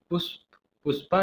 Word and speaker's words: पुष्प: Prime minister means प्रधानमंत्री, जिनका नाम है पुष्पा लिखा है लेकिन इसका आपका प्रोनाउंसिएशन करना है पुष्प हिंदी में, पुष्प कमल दहल।